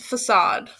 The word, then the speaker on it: facade: to stress on the second syllable assad syllable okay so it's just facade okay but a piece of